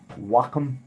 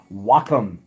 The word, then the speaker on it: Wacom: artists doing amazingly beautiful stuff on what a Wacom tablet like I've got right here this is medium sized big enough for me Wacom WACC om mm-hmm I hesitated buying one of